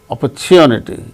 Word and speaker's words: opportunity: for the opportunity and opportunity in the case of the word opportunity chew that's the syllable gain stress in the word so